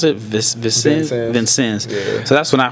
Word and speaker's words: Vincennes: when I first heard it how do you pronounce it Vincennes yeah so that's when I first heard of